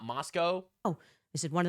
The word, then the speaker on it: Moscow: It's pronounced Moscow, not Moscow.